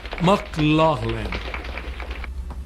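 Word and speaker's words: McLaglen: Victor morreria de um infarto em 7 de novembro de 59 e ninguém nunca decorou ou soube direito como era dito seu nome em irlandês. O certo seria pronunciar McLaughlin.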